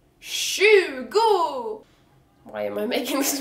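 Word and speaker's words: tjugo: The number 20 is spelled T-J and pronounced, can you guess? Shugo!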